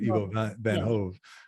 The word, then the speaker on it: Ivo van Hove: And I want to make sure I pronounce this correctly. Ivo van Hove, is that right? Ivo van Hove.